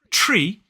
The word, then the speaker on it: tree: But for me, tree, the actual starting sound is slightly further back. So just where, I can't believe I'm putting my finger in my mouth, but just where that alveolar ridge, that hard bit behind the top teeth, goes up into the roof of the mouth, my tongue is slightly there. So it's slightly further back when I start this word.